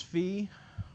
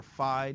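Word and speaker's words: phi: test known as Kramer's fee or five depending upon how hollow you pronounce that Greek letter it's easy to calculate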